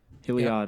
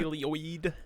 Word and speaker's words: Heliod: Heliod. I don't. I say it like oid. I gotta stop doing that. Helioid.